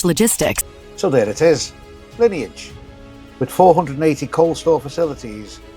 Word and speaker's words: Lineage: at Lineage Logistics. So there it is, Lineage.